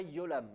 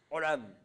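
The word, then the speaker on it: עולם: Le Ain, c'est juste, on contracte la gorge. Ah. Un peu comme quand tu n'es pas content. Olam. Voilà. Je sais pas. Non, non, j'entends beaucoup de gens qui font des yod, yolam, ayolam. Non, attention, c'est pas du tout un yod. Ah. Olam. Alors, soit vous le prononcez dur, hein, olam, soit vous le prononcez faible, comme un aleph.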